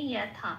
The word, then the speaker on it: যথা: এখানেও যথারীতি অন্তস্থ জয়ের উচ্চারণটা হর্ষই প্লাস অন্তস্থ উপরে ব্র্যাকেটে লিখে দেওয়া আছে ইয়। তাহলে কি পেলাম? ইয়ে ইয়াথা।